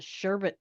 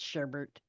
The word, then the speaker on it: sherbet: I bet as a sherbet, it would be pretty good. That just sounds weird. It's sherbet. I don't care how they spell it.